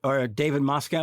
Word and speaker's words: Moscow: He must have been a little frustrated in this one because neither Christian Bale nor David Moscow, is that how you say it?